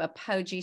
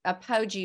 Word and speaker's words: apogee: I want to address before we get to apogee strong but can you what does apoji mean am I pronouncing it right and what that's so funny